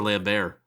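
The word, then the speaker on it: Christophe Lambert: christopher lambert it's christopher it's christopher lambert lambert the t is silent the t is silent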